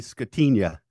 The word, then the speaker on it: Scatigna: if you're Italian you should know it's really scatina lasagna yeah yeah there you go oh yeah